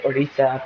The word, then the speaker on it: Orisa: Some people pronounce her Orisa or Orisa. I say Orisa because that's how they say it in the short film.